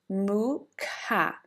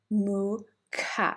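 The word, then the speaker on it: Mukha: So here it will be mooa mooa but it's a very short moo not a very long moo. It's a short moo and the coughing ca. So pronounce with me mooca. Moo ka mooca.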